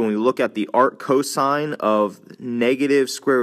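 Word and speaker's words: arccosine: The way these are pronounced are arc s arc cosine all one word and arc tangent.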